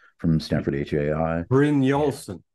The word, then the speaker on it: Brynjolfsson: I think that when we go back to the, you know, like for instance, Eric Bjørnjolfsson from Stanford HAI. Brynjolfsson. Brynjolfsson, sorry, I had to write out his name phonetically.